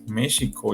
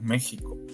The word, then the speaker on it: México: historia de por qu se debe de pronunciar México y no México bueno resulta que en vaya en el siglo XV que es cuando cuando se se da este acontecimiento la x Sí representaba el sonido en español Sí en español